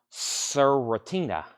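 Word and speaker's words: Cwiertnie: is kind of wild it's c w i e r t n i e and that is pronounced stina stina you were next and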